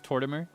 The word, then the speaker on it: Tortimer: So it's tortoimer. So rather than to tour timer, it's more like tortoise and mortimer.